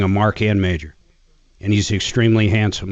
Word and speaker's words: Mager: You know, I've never heard of the name Mager, M-A-G-E-R, spelled like he does. It's German. It's Mager.